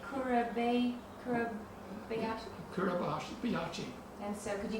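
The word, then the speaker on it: Kuribayashi: Do you have to pronounce his name? Kurabayashi.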